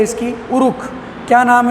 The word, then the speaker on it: Uruk: एक टर्म आती है URUK, उरुक। इसको क्या बोलते हैं, उरुक। हिंदी में बोला गएगा उरुक, इसका प्रोनाउंसिएशन उरुक।